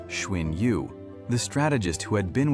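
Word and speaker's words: Xun Yu: It came from within, from his closest friend, Shuin Yu, pronounced Schwin Yu, the strategist who had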